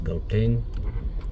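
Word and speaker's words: Gauteng: Don't it's pronounced as gouteng.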